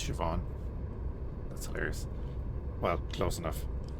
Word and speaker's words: Siobhan: I need to go talk to the hilarious cuz that's how people that can't speak Irish would pronounce Siobhan. You switch the H and the I. That's Siobhan.